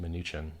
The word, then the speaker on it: Mnuchin: so we pumped uh you know 700 on Trump smack talking Bitcoin through his minion munchkin whose name I believe is accurately pronounced mnuchin who's in the Panama papers and flies in